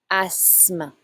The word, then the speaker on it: asthme: You do not say the TH. Asthme. L'asthme.